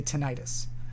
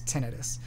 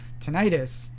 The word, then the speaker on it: tinnitus: um i used to always say tinnitus uh just because because that's what the word looks like but it actually doesn't look that way um probably the more accurate like technically uh linguistically accurate pronunciation of that word is tinnitus tinnitus that suffix is generally associated with an inflammatory process of some kind due to an infection